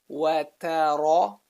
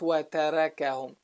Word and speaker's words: وَتَرَكَهُمْ: Notice the movement from light letter to heavy letter back to light. وَتَرَكَهُمْ. Not وَتَرَكَهُمْ.